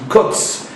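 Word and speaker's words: קוץ: hébreu, le mot pointe, la pointe du Yud se dit kotz, mais qui s'écrit comme le mot ketz, qui veut dire la fin.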